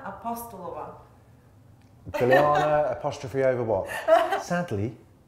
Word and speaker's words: Apostolova: I've pronounced that right, haven't I? Oh, it's been entertaining hearing all the variations. It's Bilyana Apostolova.